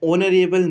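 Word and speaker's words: honorable: अगर हम यहाँ पे बात करते हैं ऑनरेबल, तो यहाँ पे हमारा जो एच है वो साइलेंट है, और यहाँ पे जो स्टार्टिंग हो रही है वो हमारी वॉवल साउंड आ रही है, ऑनरेबल मैन।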